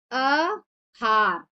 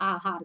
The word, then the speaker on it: आहार: जैसे क्या होता है अहार हम कहते हैं आहार जो कि होता है आहार खाने के लिए कहते